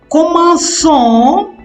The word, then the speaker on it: commençons: In the no conjugation, commençons, COMMEN, CONS. That C takes a cedilla. C cedilla ONS. If cedilla is not added, it will be pronounced as commencons, con.